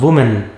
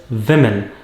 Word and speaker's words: women: love pancakes for breakfast it is not women it is women a lot of women